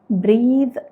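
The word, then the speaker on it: breathe: ഈ വാക്ക് ഉപയോഗിച്ചിട്ട് always ബ്രീത്ത് through your nose കണ്ടോ ബ്രീത്ത് എന്നാണ് ഞാൻ പറഞ്ഞത് അപ്പൊ അവിടെ ആ വാക്കിന്റെ അവസാനം ആ ദ എന്നുള്ളത് വളരെ സോഫ്റ്റ് ആയിട്ടാണ് നമ്മൾ പറയുന്നത് അപ്പൊ ഈ ബ്രെത്ത് എന്നുള്ള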